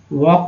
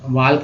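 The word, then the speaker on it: walk: एल के क्या होगा, वॉक बोलते हैं, वॉक, वाल्क नहीं बोलते हैं। तो यहाँ के का उच्चारण होता है, एल का उच्चारण नहीं होता है।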